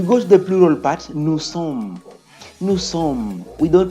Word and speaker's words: nous sommes: We go to the plural part, nous sommes. Nous sommes. We don't pronounce the S, the STD, when they appear at the end of every French word. We don't pronounce them.